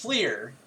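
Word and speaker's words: FLIR: yeah it's f-l-i-r right it's pronounced fleer and has been pronounced fleer for 40 years i didn't know that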